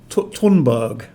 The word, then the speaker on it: Thunberg: to school i believe her surname is tunburg with an aspirated t but it's written t